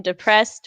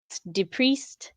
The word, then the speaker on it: DePriest: week a Tory says people always pronounce my last name depressed when it's DePriest I don't know how